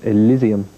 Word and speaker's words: Elizium: the album the brand-new L which is called Elysium if that's the correct pronunciation yeah okay which is the new album